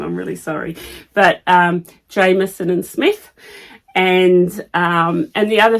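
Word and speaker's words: Jamieson & Smith: I actually pronounced it wrong so I've been pronouncing it Jamison and Smith and she said it's Jameson and Smith so I apologize if you're one of those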